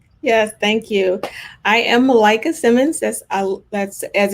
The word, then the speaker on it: Malaika: and so on yes thank you i am melika simmons that's uh that's as in i like